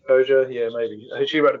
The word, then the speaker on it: Koja: I also read Kathy Koya's. Is it Koya or Koja? I'm not sure how you pronounce her name. I've Koja. heard it Koja, but I don't know if Yeah, that's right. Kathy Koja.